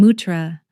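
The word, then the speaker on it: Mathura: She said her real home was in Mutra, the local pronunciation of Mthura, about 145 km south.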